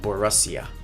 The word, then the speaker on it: Borussia: Next week we play Lars or the Borussia Dortmund, Borussia Donfan, and it's Borussia. That's how it's pronounced.